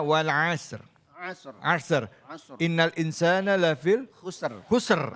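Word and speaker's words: والعصر: Bacanya wal asr.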